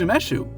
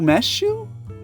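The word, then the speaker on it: 梅酒: called itself plum wine unlike the lid that told me I should be pronouncing it w wesu wesu wesu this this actually made sense to me this was umeshu which was the same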